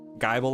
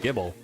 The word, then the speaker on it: Gible: I think it's just Gibble. I think that's how most people pronounce it. I say Gibble. Yeah. But like, if they really wanted people to say Gibble, they should have given it another B. Yeah. Like Bible. Gibble. It's like the same pronunciation, same spelling-ish.